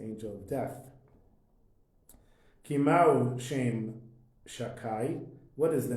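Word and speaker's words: שדי: Shabbat hi b'chinat shem shin daled yud, which you don't pronounce the name of Hashem, Shakai. Say Shakai.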